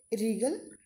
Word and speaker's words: wriggle: चलिए स्टार्ट करते हैं रीगल डब्लू इ आर इ पे लीड यहां पर डब्लू जो है वह साइलेंट है रिलेटिव वह हिंदी में